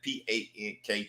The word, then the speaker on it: pank: That's right, P-A-N-K, pank is how we pronounce that word.